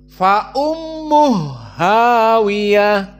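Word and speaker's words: فأمه هاوية: Fa ummuhu bertemu dengan hawiah maka Bagaimana cara membacanya maka dibaca dengan Idgham ha dijadikan ha yang dua berharakat menjadi satu maka Bagaimana fa ummuh hawiah fa ummuh maat mawinummuh hawiah seperti itu maka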